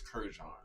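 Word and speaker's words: Courrèges: Ooh, I'm not going to say nothing, Travali, but you butchered it a little bit. It's Courreges.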